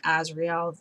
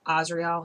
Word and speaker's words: Azrael: of the archangel israel everybody mispronounces his name he tells me and calls him azrael the angel of death is asriel he corrected me and